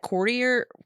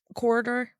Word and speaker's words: corridor: you walked through that that courtier courtier or whatever the you call it um corridor that's how you say it anyway you'd see like